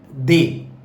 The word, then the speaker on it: des: The word DES is they. The another is the. DEUX is pronounced as the, which means two, and they means some.